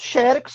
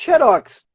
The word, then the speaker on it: Xerox: Então você pode falar tanto Xerox quanto Xerox. Tá? Se falar Xerox tem acento, Xerox não tem.